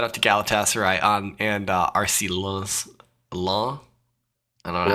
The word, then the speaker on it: Lens: Shout out to Galatasaray and RC Lens. I don't know how you say it. Lens. You would say it Lens, but you don't pronounce the S, so it'd be Len.